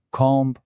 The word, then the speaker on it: comb: Fijaos en palabras como climb, comb, thumb. Y esto además explica el misterio de por qué palabras como dead, deuda o doubt, duda, tienen una B que no se pronuncia.